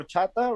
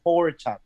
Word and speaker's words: horchata: drinks at mexican restaurants is called horchata right which is like rice water in spanish and um but people that can't speak spanish they pronounce it closer to horchata right especially which is